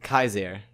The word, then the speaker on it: Caesar: seventh century AD yes these are always pronounced Kies Air okay yeah which is